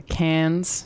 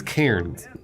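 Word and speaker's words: Cairns: moved from Nara to cans to lak entrance wait she means kons yeah not cans I mean I think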